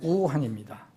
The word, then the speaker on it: 우한: 그래서 이번 중국 무한, 우리말로는 무한인데 이제 중국 발음으로 우한입니다. 한문으로는 무한이고. 이에서 시작된 이 폐렴, 전염병,